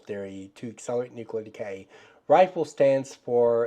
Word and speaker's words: RIFL: RIFL stands for, and it is pronounced RIFL, it's RIFL, it's an acronym, it's pronounced RIFL, is an acronym that stands for Radio-Isotopic Feedback Loop.